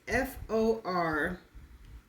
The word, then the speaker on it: formalin: The next word is formalin. And this is how it's pronounced?